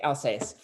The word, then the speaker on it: Alsace: less sweet Riesling, like from I can't even pronounce the place, Alsace. A yeah, no, that's right. okay, Alsace.